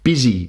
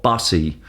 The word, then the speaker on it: busy: Remember, this is pronounced busy, not bussy.